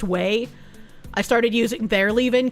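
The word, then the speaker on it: Ouai: But, uh, I moved over to using, uh, I think it's pronounced way. It's spelled o y, but I'm pretty sure it's pronounced weey.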